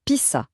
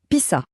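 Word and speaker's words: تسعة: Il se prononce Pissa. Allez, Pissa.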